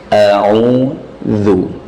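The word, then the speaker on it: أَعُوذُ: Kemudian za, ujung lidah, cara membacanya ditarik dulu, bukan ditarik, kembali ke posisi dulu. A'udzu. Jadi bukan langsung dimonyongkan. A'udzu, bukan zu, tapi kembali ke posisi dulu. Ujung lidah bertemu dengan ujung-ujung gigi seri atas.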